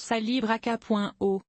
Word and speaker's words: calibrachoa: populaires aussi rapidement que le kalibraaka calibraakoa on prononce salalibreaka.o a essentiellement aucun jardinier ne connaissait le genre